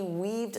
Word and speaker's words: weave: For example, she weaved through the crowded mall. So, she had to walk like this to avoid the people. Now, notice that pronunciation. Weave. Eve. Weave. Don't confuse this with wave. Wave.